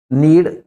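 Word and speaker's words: knead: उसका उच्चारण एन से करेंगे। नाउ नाइफ नॉलेज नीड आटा गूंथने को कहते हैं।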